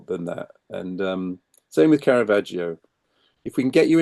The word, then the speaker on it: Caravaggio: English speakers to say Caravaggio. That's not how we pronounce it. It's Caravaggio. Ah, So think of Joe as in the name, Caravaggio.